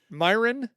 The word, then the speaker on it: Meyrin: I'm really good at Meyrin- pronouncing things. Myron, Switzerland.